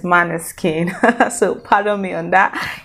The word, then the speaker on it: Måneskin: and i just realized the correct pronunciation is mana skin so follow me on